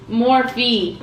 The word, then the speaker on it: Morphe: Because she always says, you say it wrong. I think it's Morphe, yeah. My mom was saying morph.